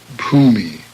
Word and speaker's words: bhumi: BH, abhorrence, bhumi.